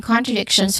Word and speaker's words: contradiction: So this is well, the start is con, which is a short o sound, and then followed by tra, which starts with a consonant cluster sound of t and r, then short a sound, then dek, then shon, tion, shon.